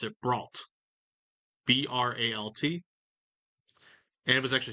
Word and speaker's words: Breault: So he likely pronounced it Brault. Submariners call it Breault, but I say Bro out of respect for the Bro families that are around today.